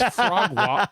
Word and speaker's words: Frogwa: well, it's Frogwa. It's Frogwa, but like like WA for Washington.